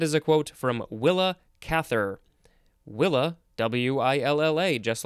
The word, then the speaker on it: Cather: a quote from willa cather willa w-i-l-l-a just like it sounds and cather c-a-t-h-e-r atrophic is an adjective